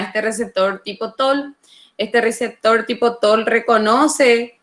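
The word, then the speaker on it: Toll: a este receptor tipo TOL, y TOL se escribe T-O-L-L.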